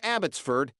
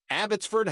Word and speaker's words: Abbotsford: Sir Walter Scott's Home abbottford house and pronounced it with the accent on Ford 15 in his later